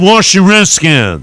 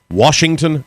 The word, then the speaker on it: Washington: by Larry Michael who says touchdown washer skins the washer reskins Washington Redskin culture washing reskins it's the way he pronounces the name of the tape when it should be Washington Redskin you really want to